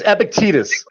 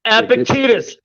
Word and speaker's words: Epictetus: No, it's Epictetus. Epictetus? All right. That's how you fucking pronounce it, fucking Riri.